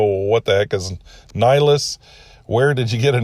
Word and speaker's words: Nylis: So she came up with her own spelling, Nylis, and pronounced it Nylis.